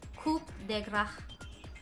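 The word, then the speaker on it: coup de grâce: It's pronounced coup de grace.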